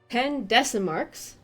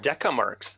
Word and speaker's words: decamarks: I'm used to a different pronunciation, but decamarks, not decimarks. I think decimarks would be a tenth. Decimark would be a silver. Yeah, Deca. silver, Deca rather than deci.